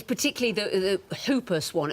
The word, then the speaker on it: Whooper: It's particularly the Hooper swan. It's written Whooper, but I pronounce it Hooper swan, yeah.